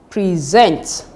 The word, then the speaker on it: present: Take note that the stress should be on the second syllable if it is verb. So it becomes present, present, record, object, import, suspect.